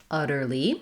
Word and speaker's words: utterly: e so that just sounds like utterly with a tense e sound utterly what i the